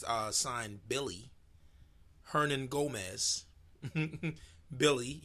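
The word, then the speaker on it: Willy: sign Billy Hernan Gomez Billy you know it's spelt Willie but it's pronounced Billy also coos I'm gonna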